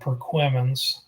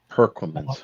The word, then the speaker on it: Perquimans: remember this team and remember how I pronounce it it's called perquimans yeah I I I'm not sure how other people pronounce it but the big one is you have people even like couple counties over that never been to the town of Herer they call it perquimans perquimans okay don't don't mess me